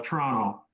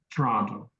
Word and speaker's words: Toronto: some It's a lazy Toronto it's like DT D not Tonto but Toronto um but you don't pronounce that second T so hard Toronto so T like t